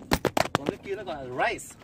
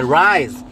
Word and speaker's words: rise: S. It doesn't make the Z. But that's how you pronounce it. You don't say the rice. No, you say the rise.